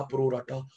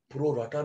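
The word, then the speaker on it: pro rata: निकालना पड़ता है रेशो, प्रो रेटा। प्रोरेटा। यस सर। कई गलत बोलते हैं, प्रो राटा प्रो राटा प्रो राटा, प्रो राटा नहीं होता, प्रो रेटा।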